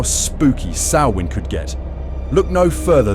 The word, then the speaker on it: Samhain: Samhain, pronounced Samhain, was the ancient Celtic festival marking the end of the harvest season and the start of the dark half of the year.